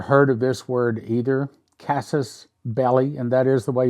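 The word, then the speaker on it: casus belli: okay I'd never heard of this word either Cassis belly and that is the way you pronounce it casses belly it's an act or event that provokes or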